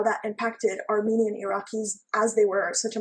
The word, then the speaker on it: Iraq: So yes, so the good thing about Iraq was or Iraq, which is the the real way you pronounce it, um it opened all